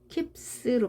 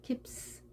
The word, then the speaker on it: keeps: 이때는 p가 소리가 떨림이 없습니다. 따라서 s도 떨리지 않게 강하게. 앞이 강하면 뒤에도 강하게, 앞이 약하면 뒤도 약하게 발음해주는 특징을 알면 되겠습니다. keeps로 발음합니다. keeps.